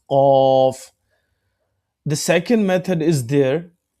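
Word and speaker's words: قاف: Is a full mouth sound qaf alif zabar qa.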